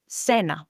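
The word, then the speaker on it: cena: an E or E, the C sounds like an S. For example, as we learned in the word dinner, Senna, but before an A,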